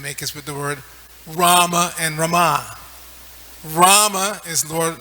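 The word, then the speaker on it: Ramā: long is Rama it's Rama sorry Lord ramachandra when the last a is long is Rama the goddess of Fortune so we should just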